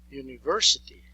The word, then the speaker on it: university: what is the reason the reason is that this letter in English appears to be a vowel but when we pronounce it in fact it is a semi vowel or a semi consonant the very first sound is y y and it is not a vow therefore the article the